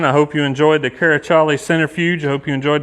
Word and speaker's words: Karaçali: That C with the little squiggle at the bottom is a Turkish character, but it's pronounced with a CH, Karaçali.